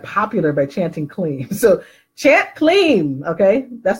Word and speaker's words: Kleem: Number two, to attract friends, you want to use the mantra Kleem. Kleem. It is spelled K-L-E-E-M.